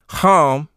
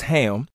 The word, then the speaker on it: Ham: the ark were Shem home which some mispronounces ham and Japheth and ham